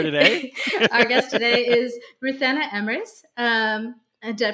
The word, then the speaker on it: Ruthanna Emrys: Our guest today is Ruthanna Emrys. Did I pronounce that right?